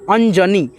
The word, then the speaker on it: अनजानी: लिखेंगे बड़ी की मात्रा अंजनी तो यहां पे देखो गलती उच्चारण हो रहा है ना अंजनी नहीं होता है ठीक है अंजानी होता है तो यहां पे जे